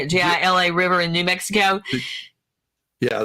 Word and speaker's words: Gila: The Gia, however you say it, Gila River in New Mexico. Yeah, the Gila River. Gila River, but it's spelled G with a G.